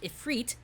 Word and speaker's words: Ifrit: Ifrit, pronounced Ifrit, is a species of jinn, get it, Zenyatta, from Islam who were not necessarily good or evil.